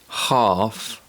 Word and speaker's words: half: in words like ball be careful the letter l doesn't always produce the sound and it's often silent when it's found in combination with letters m k f and o u d for example calm torque half and would let's go back to